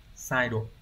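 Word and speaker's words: 再度: Thì chắc chắn chúng ta biết chữ tái đọc là sai và chữ độ đọc là độ không trường âm đúng nhỉ? Như vậy chúng ta sẽ có từ này sẽ đọc là sai độ.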